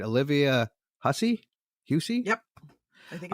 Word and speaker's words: Hussey: So Black Christmas starring, I hope I pronounce this right, Olivia Hussey? Yep. I think it's Hussey.